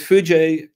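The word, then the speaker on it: foojay: So the J is from JDK, and we've added the A and the Y to make it clear how to pronounce it, which gives us a bird. So With Fuji, what we have is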